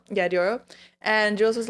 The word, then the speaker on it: Diplo: Diplo? Yeah, Diplo.